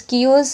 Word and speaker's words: chaos: Chaos is the nearly similar meanings to confusion. Chaos. The pronunciation of that word is chaos.